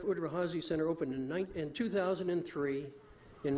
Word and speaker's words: Udvar-Hazy: Udvar-Hazy Center.